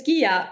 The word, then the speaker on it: Ghia: here for you and our name is Gia like pronounced with a hard G and I was just